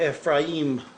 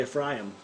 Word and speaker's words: Ephraim: the second he called ephraim i've been saying you know ephraim for a long time but actually the the pronunciation i looked at him strong closer is actually a fry him fry him yeah like e-p-h-f-r-a-h-y-i-m-f ryan the